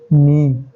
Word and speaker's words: knee: हमारा घुटना, जिसको हम बोलते हैं नी, KNEE। ठीक है, के यहाँ पे साइलेंट होता है, तो आंसर हो गया हमारा नी, यानी कि डी आंसर।